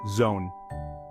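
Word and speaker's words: jaune: or Jean in French we pronounce it Zone pay close attention to the o sound with which is unique to French chapter 4 now we're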